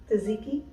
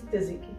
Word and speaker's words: tzatziki: For me, it's tzatziki. No. I pass. It's tzatziki. T is silent.